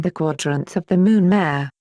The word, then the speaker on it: mare: just as it sounds esoterically it is pronounced Mary the names of spots